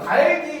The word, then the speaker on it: 닭이: 자, 그래서 얘를 발음을 하면 어떻게? 달기. 바로 격받침에 이제 그 뭡니까? 뒤에 모음으로 시작하는 형식 형태소가 오는 경우니까 요 경우는 연음 법칙에 해당하는 것이고, 그러니까 당연히 리을의 규정이 맞다라고 볼 수 있다는 거죠.